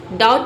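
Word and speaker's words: doubt: इसमें भी बी को हम नहीं पढ़ते हैं बट लिखते हैं। Correct spelling includes silent B. बी जो है साइलेंट रहता है। डाउट का मतलब होता है संदेह। बी बोला नहीं जाता पर लिखा जरूर जाता है।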